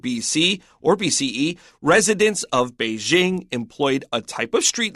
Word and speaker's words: Beijing: English only article so I use the American pronunciation of be Jing although I probably haven't said that naturally in a long time it takes an effort because we know the right way to say it the BBC says Beijing yeah and you hear